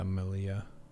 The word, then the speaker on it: Melilla: Normally in Spanish, two L's is supposed to be pronounced as a Y. Yeah. Oh, yeah, there it is. Yeah, Melilla.